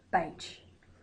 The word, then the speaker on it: Bach: So I'm going to use the word bark even though that's wrong, because a lot of people use it to this day, but it's actually Bache is the correct way to pronounce it.